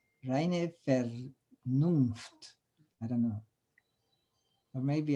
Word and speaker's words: reine Vernunft: Well, the V is in Victor is, I think, is pronounced like an F. Reine Vernunft.